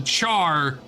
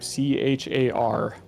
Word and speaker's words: Charr: But Balthazar willing, will drive the Char from the kingdom once and for all. The thing is Char is actually spelled with 2 R's.